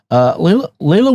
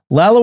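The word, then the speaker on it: Lalla: Bill Swan, 4419 on YouTube writes, Layla Ward hated the scarf too. Lila, I knew I was saying it wrong. Lala Ward hated the scarf too.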